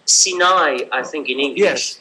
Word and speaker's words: Sinai: It's pronounced differently. What? We pronounce Sinai. Sinai. Yeah, but you're pronouncing just different accent. You're pronouncing the second accent.